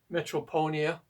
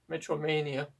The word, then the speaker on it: Metromania: hard time pronouncing uh metronia or metr Mania sorry metromania I always have a